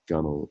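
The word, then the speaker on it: gunwale: called the Connell doesn't that's not pronounced the way it's spelled the gunnel is the word and then we mentioned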